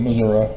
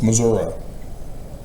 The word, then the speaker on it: Missouri: or Wilburn Bogs of Missouri. Got to pronounce it Missouri. It's the show me state. Don't show them the spelling. It's Missouri. Don't show the I it's a and so yes, the